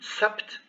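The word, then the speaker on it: سبت: sukun boost josh so you notice that in some cases the sukun modifies a bit the consonant because you don't hear like in hats hats you almost hear a t hats instead of hads so this is normal the the sukun has some some small influence uh just like we had here on sapt you almost hear a p not a b so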